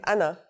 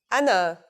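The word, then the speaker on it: أنا: You may have noticed that the alif at the beginning has a little mark on the top. When al if is at the beginning of the word, we add the mark to it, but it's still the al if sound.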